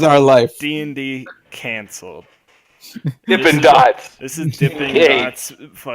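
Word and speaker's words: Dippin' Dots: life being the Kancil dippin dots this intimidates podcast now corporate planning first of all we're gonna say it right it's dippin dots now it's dippin dots yeah there's no G cuz I thought they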